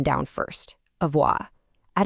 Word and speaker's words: avoir: Let's get the pronunciation down first. Avoa.